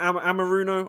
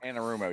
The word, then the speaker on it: Anarumo: You know, Lou, is that Amaruno? I always pronounce his name wrong. Anarumo, yeah.